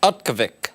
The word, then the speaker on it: Utqiagvik: This is the new pronunciation of it. I forgot already. I can't. Utkavik.